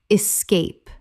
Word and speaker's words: escape: Word 283, escape, common mispronunciation, escape, correct pronunciation, escape, two syllables, the word begins with E S, not X.